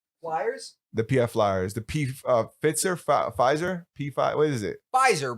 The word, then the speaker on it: Pfizer: You mean Pfizer? That's how the French say it. The you P guys, is silent.